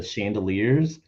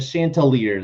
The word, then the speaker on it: Chanticleers: people and announcers, especially that mispronounced their name back in 2016 and were calling them the Chandeliers. Like, you would have been drunk off your ass if every single time they said the Chandeliers, and you're like, "What the hell are you talking about? There's clearly a T in there. Like, add it at least." The Chanticleers, like you're not even close.